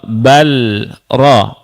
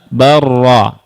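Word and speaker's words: بل رفعه: Bal ro. Bal ro. Tapi dibaca huruf ra. Ya, tidak dibaca balro tapi apa? Barro ya baca ya.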